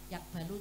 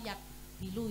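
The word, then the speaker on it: يقبل: Tadi kamu sudah betul kalau yakbalu itu menerima. Nggih. Jadi di awal kamu bacanya yakbilu ya tadi.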